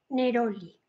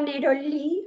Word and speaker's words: neroli: me dicen quién eres no se pronuncia como palabra aguda se pronuncia como palabra llana neroli vale me parece fenomenal la palabra neroli o neroli o neroli